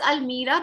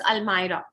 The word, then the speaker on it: almirah: do we say this almeira many of us pronounce it as al-mira but it is not almira the correct pronunciation is almirah like this there are so many words which